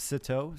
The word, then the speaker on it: Sitaux: And Plateau rhymes with Sitaux.